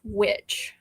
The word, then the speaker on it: Wicche: It's not we, but it is pronounced witch. Okay. It's just old English.